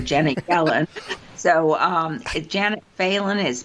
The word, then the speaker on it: Phelan: Janet Reno or Janet felon so um Janet faen is p h l n thank you that's right it's it's spelled felin p h l but not fail but it's pronounced failen Janet faen uh so remind the audience though